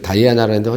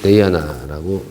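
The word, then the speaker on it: dayana: 처음에 저 다이아나라는데 정확한 발음은 데이아나라고 읽어야 됩니다.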